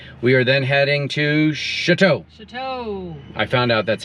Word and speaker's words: Choteau: Michelle? Yep. No, it's Choteau.